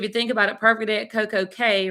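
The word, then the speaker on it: CocoCay: think about it perfect coco k rhymes with day so i agree yeah so i you know there are some who refuse to say k and they call it all key but sherman nobody in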